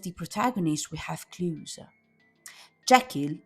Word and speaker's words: Jekyll: Jacquel is composed by the words which in French means I and kill pronounced exactly like the verb to kill connected to the final suicide.